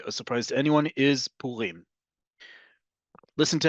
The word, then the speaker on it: Purim: or as a Resh, it's Purim. The emphasis in modern Hebrew, the default emphasis on modern Hebrew is always on the last syllable. There are notable exceptions. We've had several classes about this, but this is a big one.